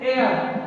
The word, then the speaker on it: heir: अगला देखते हैं, इसे हम लोग पढ़ते हैं एयर, क्या पढ़ते हैं, एयर, HEIR, पहला अक्षर क्या मिला, ए, तो क्या लगेगा, ऐन।